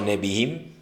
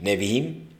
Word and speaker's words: Nevi'im: Testamento; los profetas o Nevi'im, se escribe Nevi, apóstrofe im, Nevi'im; y los escritos, Ketuvim, con K de kilo y V de vaca, Ketuvim.